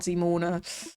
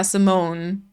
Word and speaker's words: Simone: The American Oh, yeah. Simone. I like Simone though. But yeah, in German it would be Zimon.